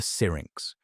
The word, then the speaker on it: syrinx: Modern birds have an incredibly complex vocal organ called the syrinx, pronounced c-y-r-i-n-x.